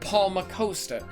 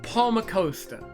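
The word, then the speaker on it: Palmacosta: game was voice acted people said Paul mccosta how do you think I knew how to pronounce that word when I was a baby it's Palmer coaster not Paul mccosta I hate it so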